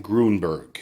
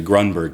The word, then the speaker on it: Grunberg: group hey Greg Berton he pronounce my last name Gruenberg it's actually Grunberg but you know what